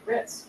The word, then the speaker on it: wrist: don't say the r the W you say Wrist r i s d but it's spell it with a W CL yes CK is